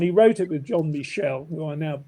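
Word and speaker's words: Michell: The book is actually called, I mentioned it earlier, The Measure of Albion, and he wrote it with John Michel, who I now pronounce correctly.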